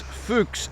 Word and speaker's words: Fuchs: Max Fuchs, F-U-C-H-S. F-U-C-H-S. It's very close for an Irish guy to mispronounce that and come out with Max does something else.